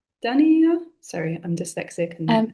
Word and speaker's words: Dhaniya: Mint is more like, sorry, I'm gonna mispronounce this. Dania? Dania? Sorry, I'm dyslexic. And It's dhania, it's coriander.